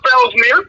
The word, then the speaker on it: Felsmere: Felsmere rhymes with pap smear.